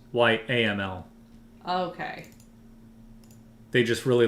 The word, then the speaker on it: YAML: How do you know it's pronounced YAML? I don't. I'm assuming. It's like a camel, but why? So if I go to YML, it's YAML.